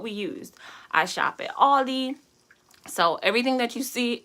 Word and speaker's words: Aldi: anyway i shopped at a store that rhymes with waldi and this is where